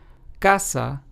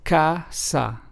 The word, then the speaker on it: casa: For example, casa, which means house in Spanish, is pronounced as casa.